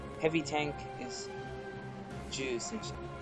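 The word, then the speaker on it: 重戦車: Heavy tank is Ju Sensha. Ju and Chu are different. They sound very alike, but if you want to pronounce these correctly, it's Chu Sensha for medium and Ju Sensha for heavy tanks.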